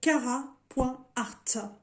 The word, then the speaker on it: Carat.art: Donc, cette société s'appelle Cara.art ou Cara Art, ça dépend, il y en a qui le prononcent des deux façons.